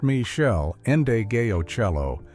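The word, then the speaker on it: Meshell Ndegeocello: Michelle Andio Cello, pronounced Michelle Endeo Cello.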